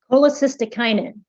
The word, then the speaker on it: cholecystokinin: Cholecystokinin. Are there any alternate pronunciations?